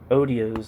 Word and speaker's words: otiose: from exchange value is otiose, or otiose. What the hell does that mean? Serving no practical purpose or result. Odios. Odios is what the internet is telling me it's pronounced.